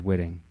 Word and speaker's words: Whitting: Now says his name's Whitting, so even though it's spelled almost like Whitnick, but not even Whitnick.